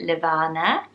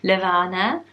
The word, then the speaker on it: Levana: is the name at levana since that gorgeous doesn't it sound like rhymes with nirvana which is lovely levana and again.if name I've